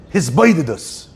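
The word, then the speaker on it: התבודדות: In Chassidut, there's a topic called hitbodedut. Okay? Probably the biggest people on the hitbodedut train is Breslov. Very big into hisboidedus. That's what they say. That's how they say it.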